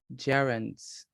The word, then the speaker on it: gerund: Gerunds. Gerunds. Remember You're right. when gerunds. Remember, if G comes before E, it makes the sound of a J. All right. So gerunds.